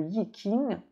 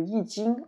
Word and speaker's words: Yi Jing: Ce qui nous ramène à ce livre originel qui s'appelle le Yi King, le Yi Jing, en fait, dans la prononciation actuelle, le livre des mutations,